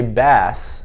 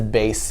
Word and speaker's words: bass: irregular sound in it it's supposed to say bass right but it says base because it's irregular um the last one